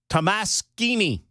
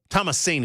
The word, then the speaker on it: Tomasini: How about Annie Tamasini? Tamasini. Another Italian dish. Annie Tamasini. Tomasini is probably the preferred pronunciation there.